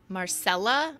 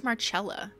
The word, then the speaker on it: Marcella: from M though so m is French Marcella I thought it was marchella Marcel I thought you pronounced it marchella kind of like a cello I don't know don't